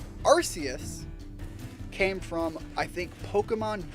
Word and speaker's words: Arceus: they never did that they said nope Arceus is exactly how we're gonna have it pronounced we aren't going to change that and then people overseas started saying oh arse this is this is the buck God booty God and frankly